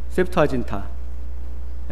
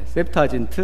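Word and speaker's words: Septuaginta: 이 70인역이라는 것은 라틴어로 셉투아진타, 셉투아진트 뭐 이렇게 발음을 합니다.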